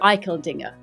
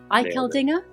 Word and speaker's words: Eicheldinger: right the second time now you got it iel Dinger iel Dinger yes teric where does that name come from